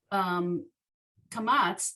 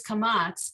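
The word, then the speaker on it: קמץ: of the book that this kamatz is going to be pronounced a little more like an O than an A.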